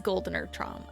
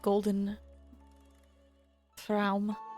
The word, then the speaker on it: Goldener Traum: Oh wait, it is Goldener Traum. I forgot. Thought it was just like Golden Traum.